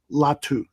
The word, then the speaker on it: Latu: is the UCLA defensive end Edge rusher latu latu I pronounced that correctly I believe so yeah did